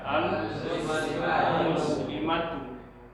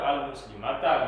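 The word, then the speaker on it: المسلماتُ: Maka dibacalah dia al-muslimatu. Jangan pula udah tahu mubtada rafa, baris mubtada itu rafa, dibacanya juga al-muslimata gitu. Salah lah. Atau al-muslimati dibaca. Salah. Mesti rafa dia. Kalau rafa baca al-muslimati. Gitu ya. Mubtada barisnya rafa, maka bacaannya al-muslimatu. Yang baca al-muslimata salah.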